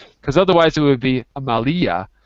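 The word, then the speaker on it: Amália: Because otherwise it would be Amalia. It's not Amalia. It's Amalia. Accent put on the A. Yeah. Yeah, I should have told you that. My fault. Amalia. That's right. Amalia.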